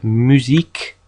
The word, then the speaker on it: musique: Although it is always followed by a U, like in English, it only ever makes a k sound, like in musique and qui.